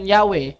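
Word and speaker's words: Yahweh: While including to the view pronunciation Yahwe, the more correct way. Inamin nila the more correct way is Yahwe.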